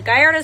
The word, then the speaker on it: Gallardo: have cars named after other things but the gardo specifically was named after the Spanish bull fighting